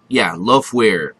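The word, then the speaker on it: Lofwyr: Even the Dragon Loafware, Loafware. Yeah, I pronounced it right.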